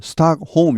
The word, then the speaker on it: Stockholm: 스톡홀름 국제평화연구소죠. 우리말로는 스톡홀름이지만 영어 발음은 L이 발음 나지 않습니다. 스톡홈 이렇게 합니다. 스톡홈 L이 무음이죠.